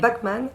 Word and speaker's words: Bachmann: Bachmann, c'est ça. Là on prononce Bach.